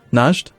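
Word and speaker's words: Najd: it Naj d yeah najed najed is the country and then njd would be the adjective to describe people okay I thought you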